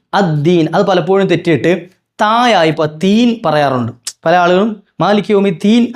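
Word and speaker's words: الدين: ഒരു യാ ഉണ്ട് യാ അപ്പ അവിടെ എന് നീട്ടണം ദീൻ ദീൻ അര അലിഫ്ല എന്ഒരു ഹർക്കല്ല കുറച്ചു നീട്ടണംദീ അവസാനം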